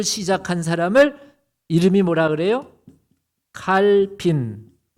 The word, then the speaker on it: 칼빈: 칼빈. 예. 칼빈이라 그래. 예. 불러 발음으로 깔뱅이라고도 해요. 캘빈이라고 하고.